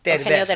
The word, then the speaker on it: Derbez: Derbez. Derbez.